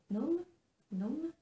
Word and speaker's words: gnome: Ensuite, j'ai participé au Mystérical de Sarah Chiara pour le Not Just Another Gnome, puisqu'on ne dit pas le G quand on prononce en anglais.